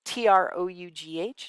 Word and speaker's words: trough: trouble pronouncing this one t-r-o-u-g-h is pronounced trough okay so the lowest